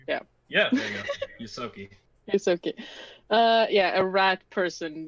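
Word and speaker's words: Ysoki: It's Yosoki. That. Yosoki? Yeah. Yeah, there you go. Yosoki.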